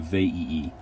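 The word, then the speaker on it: Veii: and this was the city of vaii um you have to pronounce both of those eyes uh um and the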